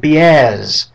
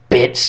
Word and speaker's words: Biaz: It's Mike Biaz, not Mike Bits or Bites or whatever you call him.